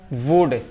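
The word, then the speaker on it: would: वुड।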